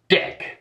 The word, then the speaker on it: deque: Finally, we have a double-ended queue, or deque. Some have also used a longer abbreviation, but because that's spelled like the operation for deleting from a queue, let's go with the shorter name.